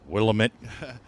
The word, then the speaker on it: Willamette: Willamette and Western, Yes. Central Oregon and Pacific. Is that how you Port of- pronounce it? Willamette? Willamette. I That's always correct. said Willamette. Uh, Willamette.